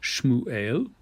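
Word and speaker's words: שמואל: an example for you the name samuel which is pronounced shmu eo and that is a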